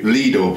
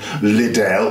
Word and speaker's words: Lidl: and I said, like, single to Lidl, please, and the driver said, don't you mean Lidl? Well, no, I don't. That's not how you pronounce it. It's a German word, numbnuts.